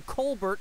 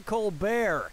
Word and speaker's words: Colbert: of the colar report changed the pronunciation of his name from Colbert to kbear and that's how he